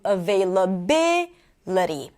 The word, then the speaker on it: availability: But once I add ity, it draws the stress, and the stress moves from available to availability. Possible, possibility. So when you add the suffix ity, the stress moves to the one syllable before the suffix.